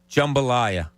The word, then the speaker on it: jambalaya: And yesterday's cooking recipe was jambalaya.